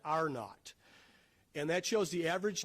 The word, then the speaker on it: R-naught: It's called the, if you look at that symbol of R, lowercase t, you pronounce that, epidemiologists call that R-naught.